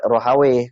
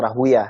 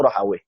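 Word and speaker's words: Rahawaih: Ada Imam Ishaq bin Rohawe, kemudian ada yang bacanya Rahwiyah, ya. Cuma yang disahihkan oleh banyak ulama itu Rohawe.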